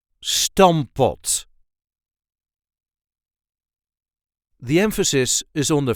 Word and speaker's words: stamppot: This is how we say Stampot. Stampot. The emphasis is on the first syllable. Stampot. Stamppot. Stampot. And yes, technically there are two P's in there, but we only pronounce one P.